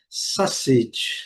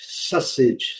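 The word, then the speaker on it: sausage: Então, a palavra e a pronúncia correta é sacete. Sacete. Sacete. Eh, esse U não é pronunciado, mas ele faz a combinação com o a, dando um som quase que de o.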